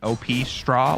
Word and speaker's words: Opstra: If I hadn't heard somebody else call it Opstra, I'm gonna be honest, I would have pronounced it OP Straw, like OP Strats, but Opstra. Good to know. Yeah, I believe I called it that at first, but I asked him how do you want it pronounced, and he did say it was Opstra.